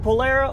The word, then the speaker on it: Polara: Sure grip in the Polara world. By the way, is it Polara or Polara?